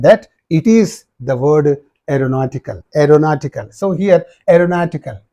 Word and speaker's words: aeronautical: it is the word aeronautical aeronautical so here aeronautical yes let me write this a this e silent r a ro na this U is silent t a don't say AO a ro na n